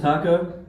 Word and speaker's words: Taco: floor my name is taco pronounced exactly like the mexican food yep i got a